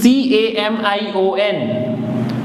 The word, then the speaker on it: camion: This is C-A-M-I-O-N. So C-A is ka, M-I is me, O-N is on. So camion, camion.